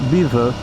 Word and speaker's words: Belvoir: Pronounced Beaver because, I don't know, the English took a perfectly serviceable French name and immediately decided that spelling was merely advisory. I don't know, because Belvoir, which is the actual name, anywhere else in the world, that's actually pronounced Belvoir.